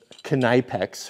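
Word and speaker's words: Knipex: And so then I called it Kneipex, and then everyone piled on, no, it's the K is silent.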